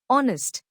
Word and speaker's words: honest: Explanation: although honest starts with H, a consonant, the H is silent here, so the word begins with a vowel sound, honest.